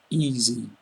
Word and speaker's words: easy: easy for you e easy so the s in it sounds almost like a zed remember I did before